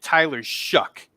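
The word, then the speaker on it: Tyler Shough: He pronounces it Tyler Shuck, Shuck.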